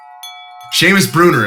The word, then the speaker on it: Seamus Bruner: So without further ado, my brother, Seamus Bruner.